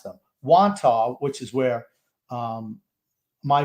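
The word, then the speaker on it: Wantagh: because they've been brought up before and i pronounced them wanto which is where um my mother and father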